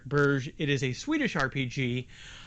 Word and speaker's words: Borg: on the cover but i've been assured that it's actually pronounced burj it is a swedish